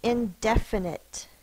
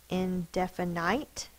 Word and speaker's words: indefinite: the next word is indefinite indefinite syllable short vowel eh there is a silent e we do not say in definite it's indefinite i do not know why